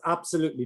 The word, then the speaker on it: absolutely: go and then that's absolutely true so remember stressing absolutely and the stress is on this syllable so maybe you can